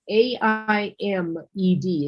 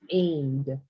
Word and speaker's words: aimed: A I M E D is pronounced aimed. aimed Yeah, like like you're aiming, pointing at something, correct?